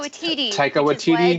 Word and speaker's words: Waititi: How do you pronounce his Taika name? Waititi.